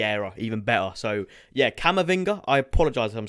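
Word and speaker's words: Camavinga: next ones before anyway cama finger is how you say it this guy isn't an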